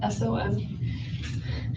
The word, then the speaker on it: Adelson: It's Adelson. Actually, it's spelled right. I said it wrong.